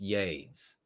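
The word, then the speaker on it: YeDS: power asking about yades it is capital Y lowercase e capital D capital s yays it's pronounced yays and a lot of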